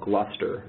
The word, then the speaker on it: Gluster: we also have something called gluster and spelled like cluster with a G um but we have